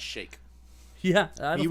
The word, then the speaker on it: Sheik: I think it's pronounced Shake.